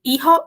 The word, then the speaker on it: hijo: El hijo, la hija. Certo? Então, o que eu já tinha dito? Encare esse J na pronunciação como RR.